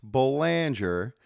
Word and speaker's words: Boulanger: We have with us Banger and make no mistake it is pronounced Banger and he is the branch president of branch